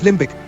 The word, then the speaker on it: limbic: For some derived words, you may or may not pronounce the B, crummy, dummy, but limbic, the B is pronounced in the latter.